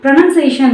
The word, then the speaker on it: pronunciation: இதை வந்து எப்படி ப்ரொனவுன்ஸ் பண்ணணும் அப்படின்னா ப்ரொனன்சியேஷன், நாட் நவுன், நன் அப்படின்னு வரும். ப்ரொனன்சியேஷன் அப்படின்னு நம்ம சொல்லணும்.